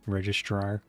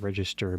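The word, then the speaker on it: registrar: Registar. Not register but registar. versus how you pronounce it.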